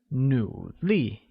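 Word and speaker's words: 努力: vocabulary required for the sentence hard translates as new Li which is pronounced with the falling rising tone on you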